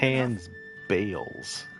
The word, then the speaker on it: Gotan's Bales: Gotan's Bales. Okay, that's how you pronounce it.